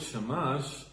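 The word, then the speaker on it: שַׁמָּשׁ: Yes, so I say also the word shamash, I can see actually it's also the same letters, but different pronunciation of shemesh, which is the sun.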